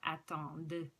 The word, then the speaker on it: attendent: And you pronounce the last D in this one because it ends in E-N-T, and the E after the D makes you pronounce the D sound. So attendent, ils attendent, elles attendent.